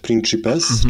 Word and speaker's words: Principes: Tam się wymawia, bo to jest z łaciny Principes, czyli to cy jako 3 w środku.